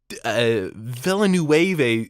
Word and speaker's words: Villeneuve: He was just like, this is Villeneuve.